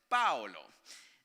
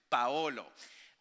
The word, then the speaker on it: Paolo: And they pronounce it Paolo. The O really smooth, and it's a lot